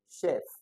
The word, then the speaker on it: chef: Now if you to pronounce them ch Now this is chart chef. You see the difference chef then chin check. So this one has the ch sound. Why this is like a sh.